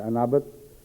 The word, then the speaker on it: انابت: یہ انابت تلفظ کیا ہے اس کا؟ انابت ہی ہے نا.